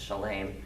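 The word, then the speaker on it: שלם: Then Melchizedek, king of Salem, or I believe the Hebrew pronunciation is Shalem, brought out bread and wine.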